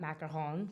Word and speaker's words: macaron: in school I fell in love with French macaroons by the way I say macaroon not macaron cuz I'm from New Jersey and I don't